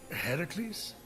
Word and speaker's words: Heracles: Heracles? Yeah, that that is how it's supposed to be pronounced.